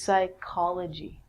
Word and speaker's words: psychology: of the mind and actually we say this like a k so this is psychology with the silent p the next one is